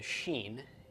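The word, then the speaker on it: שׁ: above it and if the dot is above it and to the right it is a Xin and it is pronounced as we would pronounce our English sh-shut and if the dot is to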